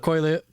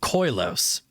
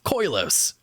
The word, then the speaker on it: Koilos: Caves of Koilos. I don't know why I subconsciously am always adding an extra I in there. It's not Koilios, it's Koilos.